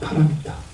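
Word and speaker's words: पारमिता: 파라미타. 네. 파라미타는 이제 중국 사람들의 발음으로 우리가 읽으니까 바람일다라고 하는데 이 바람일다, 파라미타도 인도 고대 언어인 산스크리트예요.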